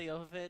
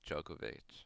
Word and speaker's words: Jovovich: love Mila Jovovich. She's awesome. Ali Larder. I've always pronounced her last name wrong. I thought it was Djokovic. Me too.